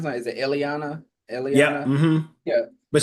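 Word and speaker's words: Illyana: About any of I mean with uh and how do you pronounce that? Is it Eliana?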